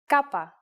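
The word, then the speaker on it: κάππα: is again a consonant Kappa and it looks like this here's an uppercase Kappa yes it's the same as the English k it is handwritten like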